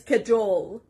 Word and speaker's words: cajole: The next word is cajole. Cajole. The stress is on the second part, cajole.